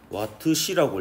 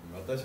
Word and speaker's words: 와트시: 이걸 읽을 때 와트시라고 읽습니다. 시가 그 아우어, 그러니까 시간이잖아요. 1시간, 2시간, 1시, 2시. 그래서 이걸 와트시라고 읽는데 우리 일상생활에서 주로 쓰는 단위는 킬로와트시를 많이 써요. 킬로와트시. 와트시의 1000배죠. 와타시 아니에요.